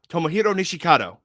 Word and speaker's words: Tomohiro Nishikado: was tomo i'm trying to make sure i pronounce his name right before saying it tomohiro nishikado tomohiro nishikado there we go i said it right i